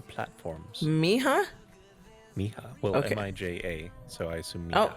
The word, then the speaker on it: Mija: M-I-J-A.